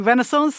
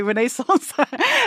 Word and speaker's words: Renaissance: hesitate over that word because Americans say Renaissance and I say Renaissance.